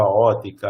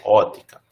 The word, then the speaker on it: ótica: Ou fibra ótica, aí tem umas controvérsias se a gente bota o P ou não nisso aqui. Pronunciamos, em geral, ótica.